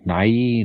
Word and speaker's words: Nighy: Well, if it's spelled like that, it's not him. But yeah, Nighy. Nye.